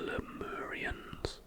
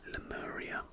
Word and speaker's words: Lemuria: the lost continent of Lemuria. If you think the name Lemuria sounds like the word lemur, then you would be correct.